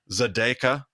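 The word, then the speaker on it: Tzedakah: I learned that the emphasis goes on the second syllable in a 3-syllable Hebrew word, generally speaking, like Zedekah. And I used to always put the emphasis on the ah at the end of everything.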